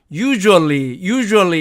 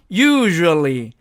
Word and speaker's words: usually: 이 단어도 보통 우리가 편하게 발음할 때는 usually 이렇게 발음하는데 실제로는 usually 이런 식으로 그 발음 자체가 이렇게 유성자음일 경우에는